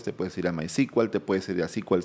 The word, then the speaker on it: SQL: a llamarse SQL y por eso es que hasta ahora se pronuncia sequel y no SQL, aunque SQL también es correcto.